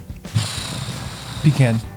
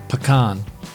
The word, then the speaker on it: pecan: Pecan. Pecan. Pecan pie. What's your favorite kind of pie, Chuck? Pecan pie. You know why? Because I'm not pretentious. All right. It's pronounced pecan. Both are acceptable.